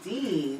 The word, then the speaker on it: Din: um de de is Dean is African it's actually it's spelled D in but it's pronounced Dean like James Dean but um it it